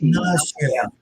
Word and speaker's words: Ignacio: Ignacio.